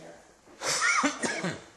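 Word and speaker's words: hir: on the slide right here. H-I-R, which is pronounced here.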